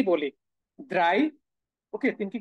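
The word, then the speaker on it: drei: চিন্তা করেন তো আমরা তিন কে কি বলি ড্রাই ওকে তিনকে কি বলি ড্রাই বলি তো তাই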